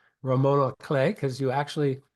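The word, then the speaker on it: roman à clef: a ROM Romona clay you don't pronounce the F Ramona clay because you actually it's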